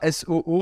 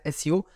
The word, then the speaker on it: SEO: Faut que j'arrive à le dire SEO. Ouais. Parce que ça se dit pas SOO apparemment. Donc avant qu'on se fasse attaquer dans les commentaires, SEO.